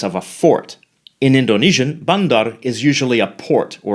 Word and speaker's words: bandar: Notice that the final R is silent in many Malay accents, including the mainstream Johor, Riau, Selangor Malay. This is also the case in some Indonesian accents, but more so among Malay accents.